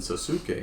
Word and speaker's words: Sasuke: And I was like, "You're pronouncing it wrong, bro." Naruto. Naruto and Sasuke, and I was like, That's so funny, bro.